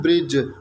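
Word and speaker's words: bridge: जैसा कि देखो, अगर मैं कहूँ ब्रिज, तो ब्रिज में भी तो डी जो है वो साइलेंट है. क्या आपने कभी यहाँ पर डी को प्रोनाउंस किया? ओबियसली आप नहीं करते. ब्रिज में डी जो होता है वो साइलेंट होता है.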